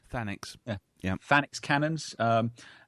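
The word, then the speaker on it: Thanix: Is that I'm pronouncing that right? Fanax.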